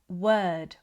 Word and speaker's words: word: The brain loves patterns, So, instead of practicing word, work, world in isolation, practice them in sound groups. So, the brain starts to connect the letter O with the er sound.